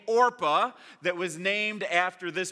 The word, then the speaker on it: Orpah: you got there so anyway Naomi says to Orpah Orpah a Orpah and Ruth you guys really should stay here